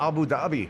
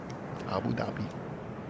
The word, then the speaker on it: Abu Dhabi: Abu Dhabi. Fun to say too. Yeah, it is fun. There's a silent H in it too.